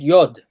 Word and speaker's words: Yod: Why did they put an O in it? Because they're pronouncing it Yod.